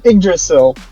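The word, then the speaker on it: Yggdrasil: It It's pronounced uh igdrasil. Uhdrasil, depending on what I don't know what boore you want to use. Idrasil is used in like Nordic mythology is kind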